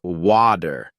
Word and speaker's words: water: focusing on American English the flap T occurs when the T sound in the middle of a word sounds more like a quick D for example the word butter is often pronounced as butter in American accents similarly water might sound more like water this doesn't mean the T disappears it's it's just softened into a sound that's less sharp you'll hear it in